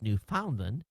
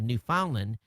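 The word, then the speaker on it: Newfoundland: story so you can get the pronunciation of new falland as you always pronounce it wrong when you read one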